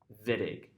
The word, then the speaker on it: Wittig: Spelled wittig pronounced vidig telling you that it came from what area of the world?